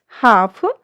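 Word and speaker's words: half: जब एल के बाद ए ओ यू के साथ एफ डी के एम आई तो एल जो हमारा है, एल लेटर जो हमारा वो साइलेंट हो जाता है।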